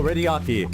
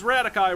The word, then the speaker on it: Radiaki: Nico Radiaki, a household appliance magnate who dabbles in nuclear physics in his spare time. Y'all thought it was Radikai, right? I did, before I heard it pronounced here.